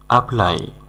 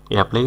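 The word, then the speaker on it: apply: আনয় মানে জ্বালাতন করা আপ্লাই এপ্লাই উচ্চারণ করলেও সমস্যা নেই তবে সঠিক উচ্চারণ আপ্লাই অর্থাৎ আবেদন করা আগিউ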